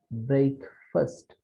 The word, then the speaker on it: breakfast: But in the case of breakfast, it is breakfast, first, not fast, right?